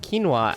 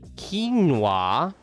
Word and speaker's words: quinoa: And like in Spain, we know that quinoa outside it's pronounced as quinoa, but we say quinoa.